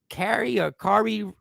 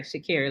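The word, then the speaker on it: Sha'Carri: Yo, what is going on with that girl from Texas, the track star, Kari Richardson? Shakari. Let's say her name right.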